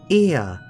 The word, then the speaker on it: Ea: When the vibration of vocal folds was still required to convey our thoughts and intentions, Ia, I believe, was the pronunciation used when referring to our people.